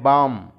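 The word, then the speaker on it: balm: फिर है बाम, बाम में एल लेटर साकिन है, उसके मानी होते हैं मरहम।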